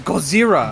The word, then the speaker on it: Gozer: His name is Gozer. Goazer. Oh, sorry. I just I just said Zer. Just Well, you're not Gozer. No, it's not pronouncing it Godzilla.